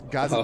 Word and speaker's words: gazetteer: I was almost like, really, I question why you're questioning me and my pronunciation. It's gazetteer.